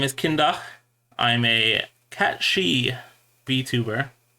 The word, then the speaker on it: Kyndagh: As you might imagine, it's it's like DACH is kind of how I have it.